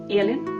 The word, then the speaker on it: Elin: Yeah, Elin.